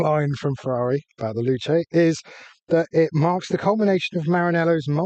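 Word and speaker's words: Luce: I thought it was loose. Okay. Luch. It depends who you ask how to say it, but apparently according to Ferrari, you say Luche.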